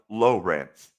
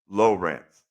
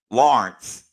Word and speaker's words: Lawrence: But I can tell you, even though they're spelled the same, they're not pronounced the same. So, Lawrence is spelled Lawrence. Right. Lawrence. But if you're in Ohio, it's pronounced Lowrance. Lowrance.